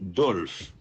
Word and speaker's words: Dolph: Numéro 15, Alexis Dolph. Dolph s'écrit D-O-L-P-H. Alexis Dolph. Alexis, qui ça? Dolph. D-O-L-P-H.